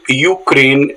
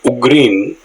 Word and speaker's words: Ukraine: we conduct in Chennai many candidates pronounce Ukraine as ugin because that is how it is written in Tamil there are a number